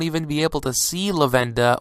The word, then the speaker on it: Lavenda: be able to see lavenda or lavender as many people tend to pronounce him now because you know some spoilers for episode 80 were released and they were calling him lavender I call him lavenda it's bit more easy for me to pronounce if you want to call him lavender you can go ahead and do so but I call him lenda personally you know there really is no correct way to say him or call